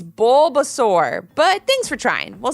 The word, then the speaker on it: Bulbasaur: mom with a giggle but I'd never forget bubbles saurus he's my favorite Levi almost couldn't speak because he was laughing so hard at that mispronunciation Mom it's Bulbasaur but thanks for trying we'll see you after